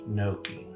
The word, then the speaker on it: gnocchi: have you ever had gnocchi that's how it's pronounced gnocchi all it is is right here they're little